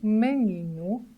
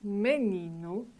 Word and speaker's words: menino: And the last one, letter O, situated at the end of the word, mainly sounds like o porto, o menino, o menino.